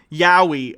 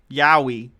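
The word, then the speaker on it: yaoi: pronounce that word it's y it's y-a-o-i yeah yowie okay thank you for the phonetic pronunciation yowie yowie yowie okay i don't know what that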